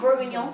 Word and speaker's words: Bourguignon: see the name Bourguignon, is that right? Bourguignon. Bourguignon. Bourguignon is from Bourgogne, Burgundy.